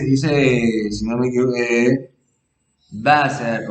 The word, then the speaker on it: Wasser: si no me equivoco, Wasser o Wasser. Me parece porque hasta donde yo sé la W en alemán se pronuncia como V en español.